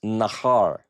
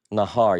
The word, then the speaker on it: nahar: Now, what you'll notice in both of these is that the phrase or the word, the portion, the root is nahar. Nahar.